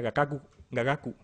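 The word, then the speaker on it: 雅楽: Que esto en japonés, lo que sea de japonés sabréis, se pronuncia gagaku, ¿no?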